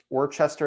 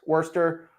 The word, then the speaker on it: Worcester: if you're in the Worchester area I'm definitely saying it wrong who cares Worcester whatever um you're I